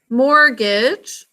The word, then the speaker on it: mortgage: in monopoly more more it says mortgage like could i mortgage this we really don't say that's right it ends up being completely silent oops okay mortgage we think just fell